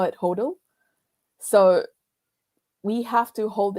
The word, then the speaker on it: HODL: It's spelled as HODL. We call it HODL.